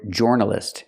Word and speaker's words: journalist: I cannot pronounce the word journalist. It's not or journalist, like Floor and More. It's journalist. We use the sound like burger.